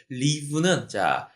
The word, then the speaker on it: leave: 자, 제임스는 사무실에, 밑에 보기를 보니까 leaves, 이렇게 나왔는데, leave는, 이게, 길게 발음해야 돼요. leave.